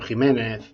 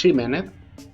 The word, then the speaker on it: Ximénez: un don quijote pedro jiménez méxico o texas porque sólo un ignorante pronunciaría don quixote méxico texas o pedro -que ximénez y vamos a ver por